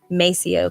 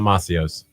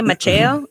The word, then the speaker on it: Maceo: rhyme with Just as long as you say Maceo correctly, Not Macios. not Macios. you know. Now, I Now, had, if you do say Macheo, I'm okay with that too, because that's really the proper way to say it.